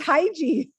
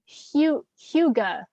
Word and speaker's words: hygge: it's i thought it's hygiene like pronouncing it wrong i was calling it hygge but it's like hyuga it's a danish word so yeah h-h-y-g-g-g-e okay